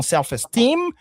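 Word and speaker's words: self-esteem: Donc tu as parlé du stress, le stress qui est sur la deuxième syllabe dans selfestem mais on on relit les mots aussi.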